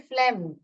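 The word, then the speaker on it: phlegm: कैसे प्रोनाउंस करते हैं इसका प्रोनंसिएशन फ्लेम फ्लेम प साइलेंट है फ्लेम करके प्रोनाउंस करते हैं इसको म्यूकस करके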